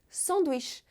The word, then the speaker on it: sandwich: No geral, a sílaba forte das palavras em francês é sempre a última. Isso também pode acontecer com a palavra sanduíche, porque a gente capricha no som de sh, sanduíche.